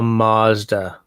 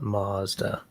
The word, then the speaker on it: Mazda: No, where Americans don't get it right is by mispronouncing Mazda. It's all Mazda. It's like no, it's not Mazda. It's Mazda.